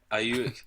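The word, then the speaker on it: Aiyuk: Ayuk. Ayuk? Ayuk. Man, this whole episode's just me not being able to pronounce names.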